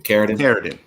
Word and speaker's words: Carradin: Carradin.